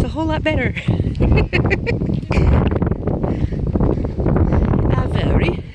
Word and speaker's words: Avebury: Avebury. That's how they say it. They say it with like the English accent of Avebury.